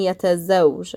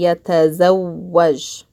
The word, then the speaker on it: يتزوج: But here, I'm not saying yatazawj, I'm saying yatazawwaj. I'm pausing here, yatazaw, and then I'm pronouncing the waw again, waj.